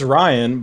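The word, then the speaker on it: Rian: Is his name actually pronounced Rain? Rain? I know it's Ryan. It's Ryan, but it's R-I-A-N.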